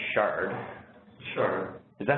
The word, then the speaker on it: Shard: I don't think it's the Chart. I think it's the Shard.